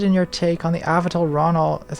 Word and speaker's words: Avital Ronell: hi Natalie interested in your take on the avital Ronell is how you pronounce her name and she's very famous oh